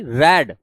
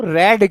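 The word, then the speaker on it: read: तुम इस वाले को रेड क्यों पढ़ रहे हो इस वाले को रेड क्यों पढ़ रहे हो जबकि यह तो रीड है हो सकता है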